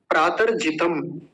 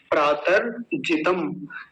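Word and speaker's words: प्रातर्जितम्: प्रातर्जितम, प्रातर्जितम, जैसे पहला मंत्र आया था तो उसमें प्रातरग्निम आया था, प्रातरग्निम। ऐसे ही आज पहला ही शब्द क्या है, प्रातर्जितम।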